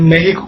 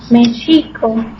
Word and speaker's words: México: algo más parecido a México, ¿no? El que es un sonido así como SH, y es por eso que nosotros lo escribimos con X, ¿no?